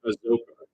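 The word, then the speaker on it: Azocar: And I think I say Azokar, it's pronounced Azokar.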